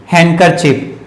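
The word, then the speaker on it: handkerchief: check ठीक है तो यहां पर फिर डिवाइड साइलेंट हुए रिकॉर्ड इन हैंड कर चिप एंड कर चेक ठीक है एंकर चिप यह जिसे आप रुमाल कहते हैं तो इस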